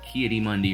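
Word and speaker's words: Ki-Adi-Mundi: a political idealist also K Mundy rhymes with crocodile dunde PO for thought but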